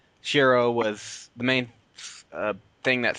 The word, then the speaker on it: Shiroe: Okay, so I'll just say Shiro because that's what I'm used to. But I started saying I feel like I have to start trying to say Shiroe because that's how they say it.